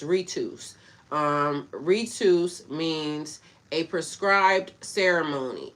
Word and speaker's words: ritus: This comes from the Latin word ritus, pronounced ritus. All right, so it's ritus.